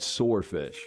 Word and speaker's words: swordfish: The W is silent and sword.